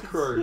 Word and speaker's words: R_Kr3w: I'm like, oh, it's crew. Yeah, yeah. I've just spelled it wrong. So there's an R in there. There's an invisible R. It's a silent R.